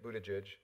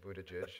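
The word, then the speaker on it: Buttigieg: dear friend mayor feat Buddha judge and that's how you say his name Buddha Jish for anybody who's wondering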